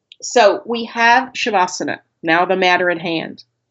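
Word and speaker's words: śavāsana: So we have shabbasana. Now the matter at hand. The first letter is the sh sound.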